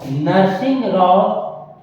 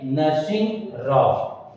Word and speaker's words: नरसिंह राव: सही जो उच्चारण या लिखने का तरीका है वो ये है नरसिंह राव।